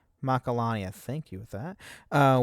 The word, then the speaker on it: Macalania: Macarena. Macarena. That is actually a joke in the game. They says Titus pronounces it wrong and he he says Macarena.